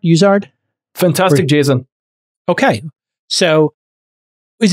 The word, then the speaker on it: Uizard: called use art as in Wizard am I pronouncing it correct uzard fantastic Jason Okay so is it Wizard or uzard you know what we like to